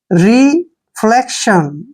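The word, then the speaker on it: reflection: हैं जिसको नेक्स्ट है रि फ्लेक्शन देखिए आर ई से हो गया री एफ एल ई को पढ़ेंगे फले और सी का उच्चारण क होगा और टी आईओ एन को श पढ़ेंगे रिफ्लेक्शन रिफ्लेक्शन साउंड रिफ्लेक्शन मतलब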